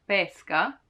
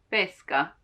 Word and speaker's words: pesca: frutto fruits right pesca while if you want to try and keep your mouth as close as possible pesca not pesca but pesca pe e you can think